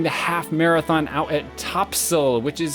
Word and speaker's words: Topsail: half marathon out at topsail which is spelt eops ail which is totally absurd but in North Carolina apparently they say things like that so it's Topsail we're going out and